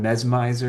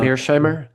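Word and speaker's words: Mearsheimer: Then it was like like some like John Mes messmiz how do you ever say his name? John Mesmeiser or whatever. Uh Mirshimer. Mirshimer. Yeah, there we go.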